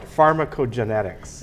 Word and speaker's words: Pharmacogenetics: Pharmacogenetics. Yes. Did I pronounce that right?